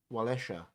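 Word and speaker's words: Wałęsa: So obviously S in Polish is pronounced SH, Walesha, if his name is spelled Walesa.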